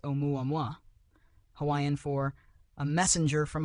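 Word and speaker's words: ʻOumuamua: Astronomers nickname it Umuam, pronounced omuam, Hawaiian for a messenger from afar, arriving first.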